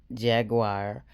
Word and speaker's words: Jaguar: Jaguar, like the car, Wright.